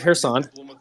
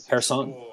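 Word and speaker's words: Kherson: um so everybody look at the city of hair sand um that is spelled k-h-e-r hairson k-h-e-r-s-o-n go ahead and open up your map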